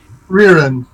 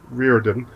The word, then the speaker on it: Rearin: Rearin. Reardon. Rearin. No D.